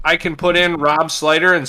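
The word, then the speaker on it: Slyter: that my name is looks like slootier or slutter but you see right next to it it says slider so you're like oh it's pronounced slider so you mean like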